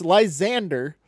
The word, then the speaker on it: Lysandre: It's not Dur. It's Dre. D-R-E. So it's Lysander.